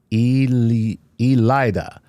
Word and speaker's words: Ilyada: And my name is pronounced Elida.